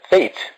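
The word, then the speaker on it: fete: So we can call it school celebration, which is also once again read as or pronounced as fate.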